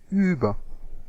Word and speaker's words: über: Or uber-aggressive, I can pronounce it like a German. You Americans all pronounce it wrong. It's not uber, it's über.